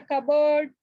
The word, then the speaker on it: cupboard: A silent letter is left unpronounced such as the D in the handkerchief, handkerchief, the N in the atom, and the P in the cupboard.